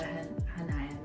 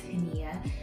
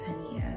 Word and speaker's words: Haniyyah: knew what Hanaya meant, which is actually pronounced Hania in the traditionally, like if I were to go to a Middle Eastern country, they would acknowledge me as Hania, not Hanaya, because that's how they pronounce it.